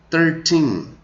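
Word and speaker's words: thirteen: Então, quando tem o teen, dá aquela esticada, e quando tem o TY, encerra antes.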